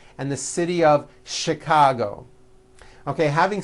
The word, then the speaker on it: Chicago: that are spelled with CH and are also pronounced with the sh sound. Words like chef and the city of Chicago.